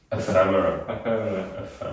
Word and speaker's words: Ephemera: How do you pronounce the band? Sorry. Ephemera.